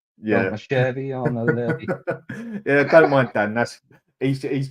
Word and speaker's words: Levy: So it's Levy, not Levi, right?